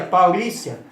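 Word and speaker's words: parousia: A vinda, a palavra paulesia, que se pronuncia paulícia, significa vinda, chegada, presença, volta, visitar, real e advento, chegada de um rei.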